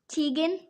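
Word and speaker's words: Tegan: uh tell everybody how to say your name tan yes tan how do you spell that t e g a n and how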